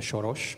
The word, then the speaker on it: Soros: this uh nice hole Mr shos pronouncing your name in Hungarian here in budapes I